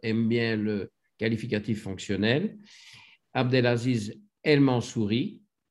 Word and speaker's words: Abdelaziz El Mansouri: Abdelaziz El Mansouri, prononciation française cette fois-ci, anglaise dans le premier épisode.